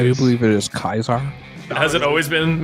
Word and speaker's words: Caesar: believe it is Kaisar. Has it always been mispronounced as Caesar? Like, Yeah, it's always been mispronounced as Caesar. Caesar's the English way instead of the Latin way.